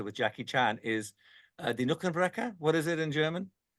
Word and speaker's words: Knochenbrecher: of Drunken Master with Jackie Chan is Die Knochenbrecher. What is it in German? Uh, Drunken Master. Die Knochenbrecher. Die Knochenbrecher. Knochenbrecher. Yes. Bone Breaker. How do you Yes. say that? Knochenbrecher.